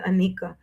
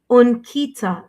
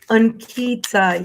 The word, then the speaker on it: Ankita: Anika Moore, I keep saying Anika. And Kita Moore, 1503. Oh, Unkita sounds like that. Unkita. Oh, thank you. Thank you for the pronunciation guidance there. Ankita, yes, Ankita. Okay, Ankita, let's take a